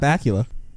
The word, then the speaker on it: Bakula: Scott Bakula, handsome man. What a last name. Bakula, it's a great name. One time my mom... Bakula? What? Bakula? No, it's Scott Bakula.